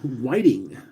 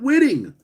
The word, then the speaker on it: Whiting: Whitting, have you ever heard of the fish called whiting? Well, that's how you pronounce my surname. What's up, man? So it's not Whitting.